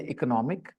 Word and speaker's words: economic: तो यहाँ second syllable पे स्ट्रेस है और यहाँ थर्ड सिलेबल पे स्ट्रेस है। तो इसको पढ़ते हैं इकोनॉमिक और इसको पढ़ते हैं इकोनॉमी।